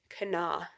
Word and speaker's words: Kanawha: me a voice message and was like we pronounce it Cana oh okay I know what you're talking about